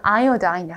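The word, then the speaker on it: iodine: 근데 발음을 요오드 아니고 아이오다인이라 하는데 아이오다인.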